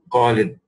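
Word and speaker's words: خالد: Kha is often mispronounced as a ka. You know, many people say Khalid, and it is not Khalid, it's not Khalid, it is Kha, Khalid, right?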